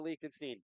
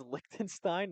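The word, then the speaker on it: Liechtenstein: Thinks about getting it off to Leakenstein. Did I say it right that time, Ethan? I I think it's Likenstein, not through like Likenstein.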